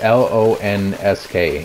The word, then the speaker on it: Lonsk: Lonks. I think it's L-O-N-S-K. Lonsk. L-O-N-S-K, I believe is how it's spelled.